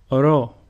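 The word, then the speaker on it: Ρω: Ro, which is pronounced ru, and a sample word is ρύζι, which means rice.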